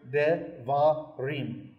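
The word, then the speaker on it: דברים: Those little dots and what looks like dashes are symbols for vowels, so that we pronounce this word devarim.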